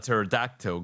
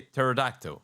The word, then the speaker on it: pterodactyl: Why can't you hear a pterodactyl go to the bathroom? Why? Because the P is silent. But it isn't. Oh, it is. You say pterodactyl.